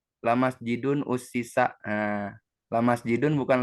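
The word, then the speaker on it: مسجد: Kayak tadi masjidun dari yasjudu, harusnya kan aturan masjadun ya, bukan masjidun. Tetapi karena apa? Karena contoh yang tadi itu masjidin itu merupakan contoh yang bagian yang syadz, yang menyalahi aturan umum, makanya dibacanya masjidun dan mengikuti apa? Mengikuti kebiasaan orang Arab itu sendiri.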